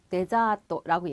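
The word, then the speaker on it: デザート: 디저트 발음은 여러분 우리가 자, 네자또라고 얘기를 해요, 여러분. 그쵸? 그래서 디저트지만 발음은 네 들어서 네자또라고 얘기를 하고요.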